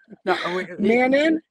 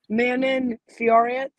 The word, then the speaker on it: Manon Fiorot: but how how do you say it don't manin manon fiorent i see that's that's that's the american thing